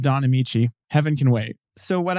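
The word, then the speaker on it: Don Ameche: Technicolor film starring an actor whose name is pronounced Don Amici, Heaven Can Wait?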